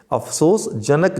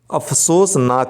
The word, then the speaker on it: अफसोसनाक: लिखा जाएगा ठीक है अफसोसजनक जो बोल देते हैं अक्षर उच्चारण गलत है अफसोसनाक होता है वह अभिनेता नहीं होता